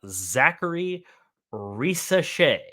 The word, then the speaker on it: Zaccharie Risacher: We are talking about Zaccharie Risacher.